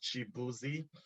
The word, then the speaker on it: Chibuzo: So the spelling is pronounced Chibuzi.